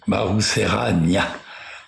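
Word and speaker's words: Maroserana: Mangou au sud secret la dynastie Marouserane qui est donc Marouser hein pour pour le prononcer correctement jusque au nord de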